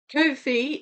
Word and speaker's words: Ko-fi: Kofi is spelled K O FI and it's uh I don't think there's an app.